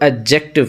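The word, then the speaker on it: adjective: नहीं है, इसे एडजेक्टिव, यानी डी जो होता है वो साकिन हो जाता है, साइलेंट हो जाता है, तो एडजेक्टिव प्रोनाउंस किया जाएगा।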